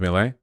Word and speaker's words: Milei: Chile rhymes with Milei.